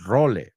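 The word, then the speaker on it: role: The only thing is you spell it r o l. We sp we spell it r o l e. So it's roll really.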